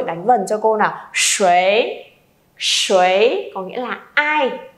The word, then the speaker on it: 谁: Và bật mí cho các bạn á, từ này còn một cách đọc nữa là sấy. Sấy và sấy thì đều được nhé mọi người.